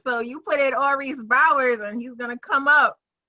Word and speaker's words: Bowers: Last name Bowers, Bowers, not Baugers.